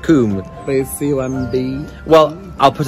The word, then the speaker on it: Combe: wow people would have had beautiful no not comb comb it's pronounced coomb please um well i'll put us all out